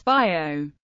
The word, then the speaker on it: Vigo: The standard pronunciation of Vigo in both Galician and Spanish is Bio.